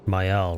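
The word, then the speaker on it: Maelle: Mael, right. That's how you pronounce it.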